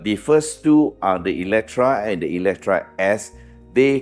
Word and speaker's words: Eletre: today is the launch of the all-new Lotus Electra yes the spelling says e-l-e-t-r-e but it's pronounced with a a don't ask me why